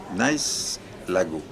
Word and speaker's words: Nice Lago: Je répète « nice lago ». Je ne sais pas moi-même ce que cela veut dire. Mais le seul fait de la prononciation nice au lieu de Nice a anglicisé le premier mot.